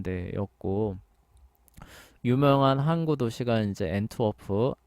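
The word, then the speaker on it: Antwerpen: 유명한 한구 도시가 이제 앤투워프 뭐 안트바르프라고도 원래 그 발음한다고 하는데 하여간 거기고 이제 영국 같은 경우도 저기 비슷하죠.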